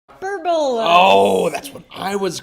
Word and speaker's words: hyperbola: hyp a good h a good uh hyperbola is actually the way you pronounce it but I mean it's a fun one to to mispronounce hyperbola it's not a hyperbole either no that's like one